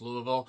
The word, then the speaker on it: Louisville: of goddamn idiots in Louisville, Kentucky. Yes, I know it's pronounced Louisville.